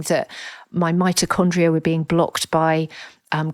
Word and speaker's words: mitochondria: I know but just using the word who was I to use a word like mitochondria and of course it rhymes with hypochondria which you're feeling as a oh for goodness sake I'd never even clicked that together.